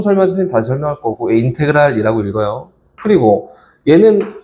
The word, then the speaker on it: 인테그랄: 인테그랄은 저 뒤에 정적분 설명해 선생님 다시 설명할 거고, 인테그랄이라고 읽어요.